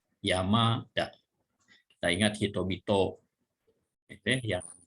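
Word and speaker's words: 山田: Jadi biasanya kalau 2 huruf kanji menjadi satu kata, huruf kanji yang kedua kalau cara bacanya ada dakuong, itu gunakan dakuong. Dari ta menjadi da ya. Yamada.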